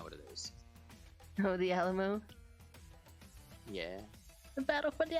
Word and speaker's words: Alamo: The Alamar. No, that's not how you pronounce it. The what now? Alamar? Alamone.